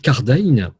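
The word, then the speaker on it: Cardijn: que propose la bête car d'aïn je prononce à la néerlandaise avec car daniel joseph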